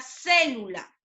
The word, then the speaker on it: célula: Como en el primer ejemplo tenemos la palabra célula. Célula. Célula. ¿Cierto? Célula. ¿Cuántas sílabas tiene? Tiene 3 sílabas. La mayor fuerza de voz o la sílaba tónica la está llevando en la antepenúltima sílaba.